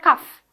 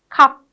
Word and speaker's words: cup: Okay, it's not cuff, it's cup, cup.